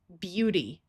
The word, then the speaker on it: beauty: In this word, e, a, and u together are going to have a long u sound and the y is going to have the long e sound. So, this word is beauty.